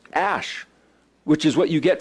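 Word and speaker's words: אש: the word fire it's our word ash it's pronounced ash which is what you get from fire then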